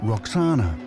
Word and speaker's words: Roxana: The Greeks pronounced it Roxana, but it may originally have been Vakshana, which would mean she belonged to the Vaksu, an ancient name for the Oxus River.